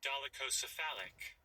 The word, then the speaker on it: dolichocephalic: Dolichocephalic.